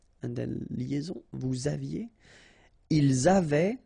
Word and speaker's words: avaient: Ils avaient, so look here, E-N-T, you write them, you don't pronounce them. So you get phonetically, avait, exactly the same thing that we had here, here, and here. Okay, so it's exactly the same thing that you will pronounce. but then here you make the liaison.